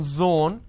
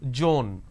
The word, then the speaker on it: zone: for example it's zone instead of saying zone they pronounce this as joan these are the mispronunciation